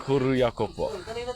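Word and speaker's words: Kuru Iakopo: Kuruyako po.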